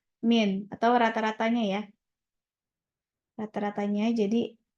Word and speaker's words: mean: X muxnya itu apa mean ya atau bahasanya yang benar bukan me Min bacanya Min atau rata-ratanya ya rata-ratanya